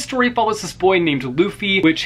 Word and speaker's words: Luffy: follows this boy named luffy which his name is luffy not luffy like i've been pronouncing it all this time gotta love when you've